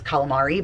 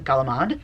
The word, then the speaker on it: calamari: Some of you may say it as calamari, but for us that's calamad, and I can't do it.